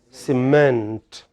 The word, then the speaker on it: cement: This stroke indicates that the following vowel has emphasis, has stress. So how is it pronounced? Cement.